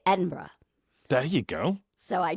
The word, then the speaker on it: Edinburgh: So whenever I was there, I was like, I know not to say Edinburgh. You got to say Edinburgh.